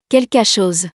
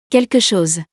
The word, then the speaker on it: quelque chose: Quelque chose. Quelque chose. The second one is correct, because this word is an exception, and we pronounce the last E.